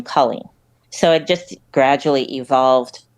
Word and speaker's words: Colleen: Well, the history is apparently, so my name is spelled with 2 L's and 2 E's. So it's pretty phonetic and, 2 syllables.